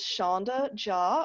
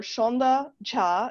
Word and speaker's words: Sandhya: as who i am my name is shonda ja or shonda cha is the technical pronunciation in bengali and i get corrected by hindi speakers all the time because hindi is the more prominent language in india and the exact same name in india is pronounced in hindi is pronounced sandhya so there are lots